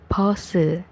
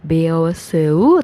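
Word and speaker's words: 버스: Pause. Ada pause. Dibacanya bukan beoseu tapi jadinya pause.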